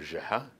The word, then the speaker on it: Geha: afterward with a familiar hello mr jaha giving my last name it's arabic pronunciation what really floored me